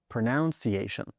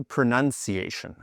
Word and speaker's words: pronunciation: You'll hear native speakers say pronunciation, which makes sense because the verb is to pronounce. But as a noun, it's actually pronunciation. If you look very closely, there's no O before the U.